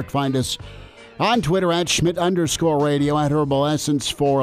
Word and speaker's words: Schmidt: make sure you get Schmid spelled correctly it can be a tough one Germanic name completely yeah yeah so the D is silent so we got all